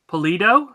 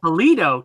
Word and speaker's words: Pulido: chanst Pablo Rivera Javier pollute oh I said that right there Pulido there you go Pulido Tim and I've been saying it wrong all these years oh yeah uh here